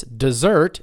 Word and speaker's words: dessert: say it together this dessert is delicious this dessert is delicious it's pronounced the same way as the verb but it's a different word okay spelled differently too